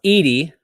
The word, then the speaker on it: Edie: Thank you for fixing my pronouncing. I sometimes do not do well, but it's pronounced Edie, and it's 7/17/22.